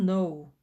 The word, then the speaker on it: know: 기차를 놓치신다면 You will know 당신은 알게 되실 겁니다 크노라고 읽으면 안 되는 거 아시죠 저번에도 한번 다른 영상에서 설명드렸는데 K 다음에 n이라는 스펠링이 오면이 k가 소리가 나지 않습니다 그래서 no라고 읽으시면 됩니다 그리고 예를 들어서 하나